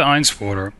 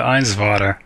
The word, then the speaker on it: Einswater: Helga Einswater. Spelled with a W, sounds like a V. Okay, Helga Einswater.